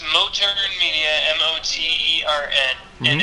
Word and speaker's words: Motern: us a little bit about that uh it's mo turner media m-o-t-e-r-n and it's understandable that people don't pronounce it correctly because i just made it